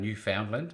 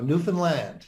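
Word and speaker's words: Newfoundland: you get people coming to you and saying New Foundland and does it annoy you uh that annoys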